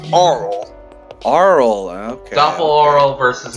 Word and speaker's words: Arle: Her name's actually pronounced Arle.